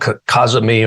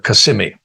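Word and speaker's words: cazimi: of the sun that's called Kazumi or kasimi people pronounce it differently but it means in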